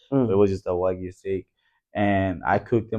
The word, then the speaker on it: Wagyu: You know, A5 Wagyu steak. That's how you say it.